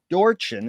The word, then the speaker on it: Dorchen: Also want to thank Kelly Kuvo for introducing us to today's guest, Jeffrey Dorchen.